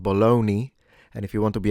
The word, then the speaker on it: Bologna: Bologna. The strength of the GN depends once again on your region. In standard should be kept into a mid strength. So Bologna, you don't necessarily need to make it too light.